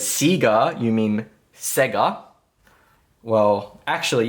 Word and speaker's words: Sega: Who remembers the Sega Dreamcast?